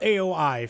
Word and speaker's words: Aoi: So AOI, for instance, if you pronounce that in Japanese, that is aoi. It's like three Aoi. You mean Hina? Sure, I mean that's one person named Aoi, yes. I mean if you say it fast enough it sounds like two syllables, but in reality it's three. It's Aoi.